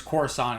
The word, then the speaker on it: Coruscant: I think Timothy Zahn was like, when I wrote it, in my head I pronounced it Coruscant. And George decided it was Coruscant.